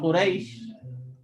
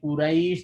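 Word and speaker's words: قريش: So, for example, one of the most popular examples in the beginning of Surah Quraysh, what's correct? Li'ila fi Quraysh. There's an e sound. Quraysh. There's an e sound at the ending.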